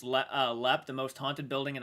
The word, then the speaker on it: Leap: I'm from Ireland and I live just a few miles from Leap Castle, pronounced Lep, the most haunted building in Ireland.